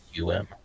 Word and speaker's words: Serapeum: It's Serapeum.